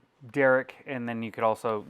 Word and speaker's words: Deric: It's Deric. It's like Eric with a D.